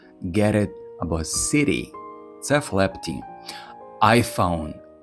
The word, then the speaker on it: iPhone: iPhone. iPhone. Що тут? Наголос на перший склад.